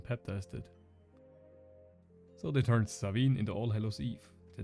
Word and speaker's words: Samhain: The Celts celebrated a festival called Samhain, pronounced Samhain, because back then letters were more of a suggestion.